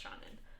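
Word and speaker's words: Seanan: I believe this is an Irish name, and I believe it's pronounced Shannon.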